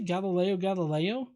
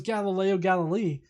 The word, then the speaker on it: Galileo Galilei: say did he say galileo galileo did he because in my head it was galileo galilei which i believe is the correct way to say his name but apparently he said